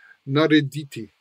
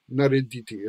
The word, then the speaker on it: narediti: or to make, and it's spelled and pronounced in a formal setting, like if you heard a news announcer use it, they would say narediti, narediti, and it's the infinitive of the verb to do, to make.